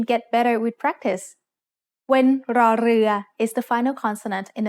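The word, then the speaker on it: รอเรือ: The sound of ร อ เ ร ื อ as an initial consonant is r, like the double R in burrito when spoken by a native Spanish speaker. In other words, this is an R sound with a trill.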